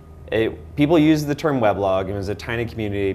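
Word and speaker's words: weblog: um said we should instead of pronouncing it web log we should pronounce it we blog U so he actually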